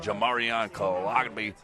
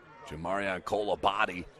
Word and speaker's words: Jamarian Kolabadi: Have to get a pronunciation key on that one. But a great tackle, and that's going to force another punt from the Saints. Jamarian Kolabadi is how you say it.